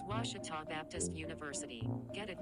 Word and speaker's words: Ouachita: university back in texas everybody pronounces it wichita but really it's ouachita washington washington how would you pronounce it it's washita baptist university get it right it's washi tall people it's washata northwestern has struggled